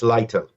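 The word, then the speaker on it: Leiter: born in America the new Ambassador Michael uh lighter is that how you say his name yel huh yel okay but his last name is it lighter oh yes yes lighter he looks like he goes by quote Michael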